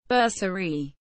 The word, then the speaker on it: Bersaglieri: the basalar Italian pronunciation berserie Marksman in English our a core of the